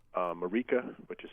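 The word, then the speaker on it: Marieke: here, so Ironhead, just as it sounds, um Marika, which is spelled m a r i e, k e, again m a r i e, k e.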